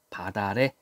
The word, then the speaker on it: 밭 아래: 그러니까 어떻게 돼요 이제 티 밭에 티을 종성 음절이 끝소리 규칙 디귿으로 바뀐 다음에 뒤로 넘기는 거지 그래서 발음이 바다래 이렇게 되죠 이렇게 밭을 내려다 보니